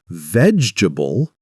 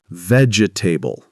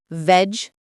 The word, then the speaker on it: vegetable: For example, many learners pronounce vegetable as vegetable. Yes, I said that. But it's pronounced veable.